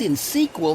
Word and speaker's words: InSQL: I see they've helped you pronounce InSQL. Yes, but what does insequel mean?